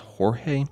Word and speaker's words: Jorge: So Aragon was founded in 2016 by Luis Quinde and also George, or I believe this is pronounced Jorge, Izquierdo.